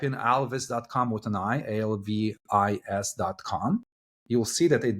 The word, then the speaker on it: Alvys: we pronounce it so most of the English-speaking people would uh tend or lean to pronounce it Alvis Alvis yeah because because uh you have an why right whereas I was telling everyone no we're gonna pronounce it Alvis I want it to sound like Elvis and we we like